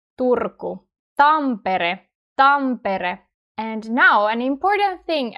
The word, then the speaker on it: Turku: see some other finished Turco. And in Finnish, we roll our Rs. We say R. Turco. Turco.